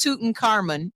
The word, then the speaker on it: Tutankhamun: Yes, it's King Tutankhamun, and yes, it's pronounced Tutankhamun.